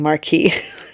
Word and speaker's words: Marquis: I'm not mispronouncing marquee.